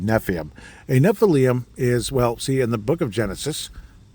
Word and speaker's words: Nephilim: the heck is a Nephilim? And I'm finally saying it correctly. There were times I called it Nephilim.